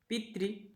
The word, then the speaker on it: पितृ: ठीक है, और पितृ यानी जो री की मात्रा लगेगी त्रि, त्रि के उच्चारण होता है।